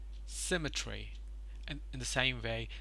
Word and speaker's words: symmetry: I probably assume it it has symmetry symmetry the stress is on the first syllable symmetry and in the same